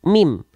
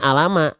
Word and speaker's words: mim: banyak makanya mim juga Kalau teman tem-teman tahunya ini huruf Ma khawatir Nanti ketika Dayat itu teman-teman bacanya Alama Alama jangan ya oke sip nah huruf mim ini namanya mim nama aslinya mim huruf mim ini dilafalkan sebagaimana persis kita melafalkan naturalnya huruf M pada abjad alfabet beres ya oke Ah